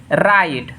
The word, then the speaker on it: write: फिर यहाँ देखिए राइट, WRIT, तो हमने क्या बोला, डब्लू के बाद, यहाँ देखिए डब्लू के बाद क्या हो, आर, डब्लू के बाद आर हो, फिर भी उसका उच्चारण क्या है, डब्लू का उच्चारण नहीं होता है, तो यहाँ WRITE, तो आर के पहले यानी डब्लू के बाद आर है तो इसका प्रोनाउंसिएशन क्या हो जाएगा, राइट।